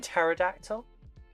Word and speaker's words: pterodactyl: Okay, I thought you were talking about I don't know how to pronounce that. Is that Favoridactyl? Favoridactyl? Oh, do you mean pterodactyl?